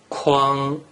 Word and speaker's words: kuang: So if you combine the consonant ”k” and vowel “uang” together and pronounce it with the first tone, it is pronounced “kuang”. kuang Rule 2 gives you